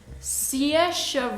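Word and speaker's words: Saoirse: stars kate winslet and siasha ronan i had to google how to pronounce that because it's written how is it written something like that it's yours it's an irish name yeah it's kind of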